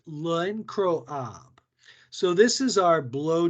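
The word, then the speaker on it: L'Incroyable: Then our next one is pronounced L'Encroab.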